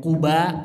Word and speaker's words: Quba: Sebagian bacaannya dalam bahasa Arab ada yang Quba pakai dhammah, ada juga yang bacanya pakai kasroh, Qiba.